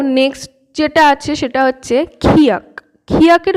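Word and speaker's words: 키읔: তো নেক্সট যেটা আছে সেটা হচ্ছে খিয়াক। খিয়াকের উচ্চারণটা কিভাবে করবেন, ক আর খ যদি একসাথে উচ্চারণ করেন, খ খ, ক আর খ একসাথে উচ্চারণ করুন তাহলে বুঝতে পারবেন একদম খিয়াকের সেরম উচ্চারণ হবে।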